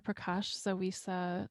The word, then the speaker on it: Prakash-Zawisza: Prakash-Zawisza, did I say it right?